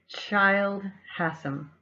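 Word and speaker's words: Childe Hassam: research on that and i realize i pronounced that wrong and didn't realize who it was so child Hassim was the illustrator for her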